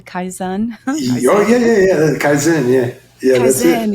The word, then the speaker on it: Kaizen: Japanese approach I don't even know how to pronounce it Kaizen Kaizen oh yeah yeah yeah kaen yeah yeah Ka